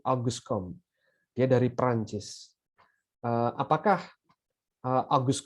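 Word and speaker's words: Auguste Comte: yang bernama August Comte jadi bacanya itu bukan aguste Comte Bukan gitu ya tapi Agus come ya dari Perancis Apakah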